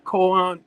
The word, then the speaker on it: Kohen: Yeah, it's I know it's COH because I was trying to watch pronouncing it. It's Kohen. Come on, Common Sense, you might just pronounce it a little better.